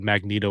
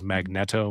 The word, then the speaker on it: Magneto: with what you thought like people thought Magneto was magnetto and things like that